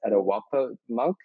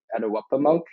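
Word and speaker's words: Etuaptmumk: trying um from my understanding the term is pronounced etowah monk edouappa monk and that's how the term is used by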